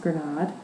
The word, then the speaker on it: grenade: inspired by learning that the word grenade um is the word for pom granate in French pronounced granade and that's where we